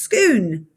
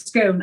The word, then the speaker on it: Scone: form of gaelic from which it drives is pronounced skoon technically uh but i always thought it was scone i know exactly what you're talking about it's